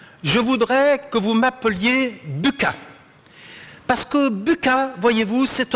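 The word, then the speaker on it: Bucca: de mon univers d'analyse donc je préférerais que vous prononciez buca et je vois que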